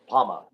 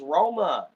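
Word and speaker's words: Рома: Oh, it's pronounced Roma. Oh, okay. Roma. I can Now pronounce I know that. how to pronounce it. I did not realize that a P was an R.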